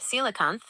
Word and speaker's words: coelacanth: You're asking about the coelacanth, pronounced coelacanth.